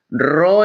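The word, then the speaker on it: rho: marcador se escribe con la letra griega ro ro se escribe RH o muy bien y el símbolo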